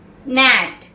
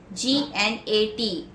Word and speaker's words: gnat: Next word, gnat, G-N-A-T, gnat, where the G is silent. Gnat means any of many species of flying insects.